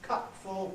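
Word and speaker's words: cupful: It will be full if it's, for instance, cup full, box full. Right? But if it's not that noun use, and cup full, box full, glass full, and so on, spoon full.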